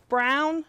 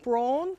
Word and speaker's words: Braun: is brown and it's brown not bran so you now know how to pronounce her last name correctly all the way from